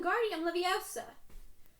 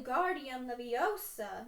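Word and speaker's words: Wingardium Leviosa: arms like a windmill you're saying it wrong hermione heard Hermione Harry heard Hermione stop it's when Guardium Leviosa make the GAR nice and long you do it then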